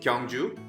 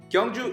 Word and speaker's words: Gyeongju: we dive into this safety tour okay so kungu world you pronounce it kangju kangju is a very historic city that has been